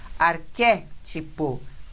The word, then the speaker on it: Arquétipo: Arquétipo é uma proparoxítona.